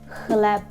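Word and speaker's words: chleb: а це як х але коли ті дві букви стоять разом ми отримуємо звук х х будьте обережні ті з вас Хто знає англійську часом думаєте що цей двузнак читається нам як ч але насправді це х х наприклад у слові хлеб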